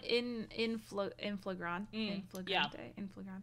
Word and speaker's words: in flagrante: Yeah, because he says they're found in flagrante. How do you pronounce it?